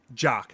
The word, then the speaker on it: Jock: of it's done by jock Jock It's just pronounced jock and half of it